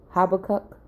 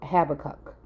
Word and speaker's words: Habakkuk: to go in on the book of here is spelled h-a-b-a-c-u-c habakkuk and it says this prophecy dates okay and it's talking about the oracle of habakkuk okay again and i could swear that this